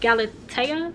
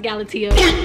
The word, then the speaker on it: Galatea: that up first but I think it's pronounced galatea which period okay so I just looked it up this is actually pronounced galatio the back here it